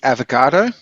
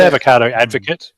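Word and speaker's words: abogado: lawyer in Spanish is avocado. So every time I hear someone talk, it's actually spelt with a B, but B is pronounced like a V.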